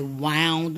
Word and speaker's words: wound: to ache so I wound my way slowly along the streets so here's another example of homographs there or they have different pronunciations wound and Wow okay so the context